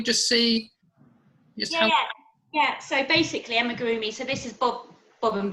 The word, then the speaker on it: amigurumi: Amigurumi. Yes, yeah. How do you say it? Amigurumi, you're right, yeah.